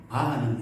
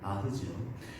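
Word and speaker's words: Bach: 우리가 바하라고도 부르고 바흐라고도 부르는데 이 바하는 일본식 발음이라고 합니다. 크자 발음이 없기 때문에 일본에 그래서 바하라고 하는데 실제 이름은 바흐죠.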